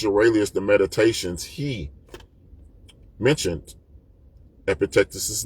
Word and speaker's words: Epictetus: Um, so these are the golden sayings of Epictectus. Some people pronounce it Epictitus.